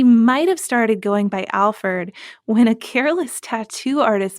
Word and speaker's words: Alferd: Packer's name, even though he's generally known as Alferd, like with the E-R-D.